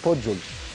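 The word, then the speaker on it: Puyol: كارلوس بويل، كارلوس بويل حتى بالإسبانية بتتنطق بويل، هم في برشلونة لك كارلوس بوجول، يعني الحتة اللي هم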